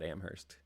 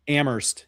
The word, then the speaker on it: Amherst: Yeah, really lean into that H really hard there on that Amherst. Amherst. Yeah. Yeah. We are way too Midwesterner. Yeah. Uh you know, our dialects pronounce the H.